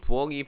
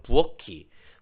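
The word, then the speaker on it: 부엌이: 이거는 흔히 부억이 부억은으로 발음하는데 이것은 연음을 따르지 않아서 생긴 잘못된 말. 저도 솔직히 말해서 실생활에서 부억이 부억은 이렇게 발음하거든요. 저도 잘못 발음하는 거겠죠. 근데 이거는 이게 형식 형태소이기 때문에 이 키읔이 그대로 넘어가야 되겠죠. 그래서 부엌키, 부엌큰 이렇게 발음해야 돼요.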